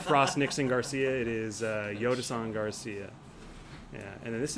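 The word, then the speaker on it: Jhostynxon: It is Yotason, is how he says it.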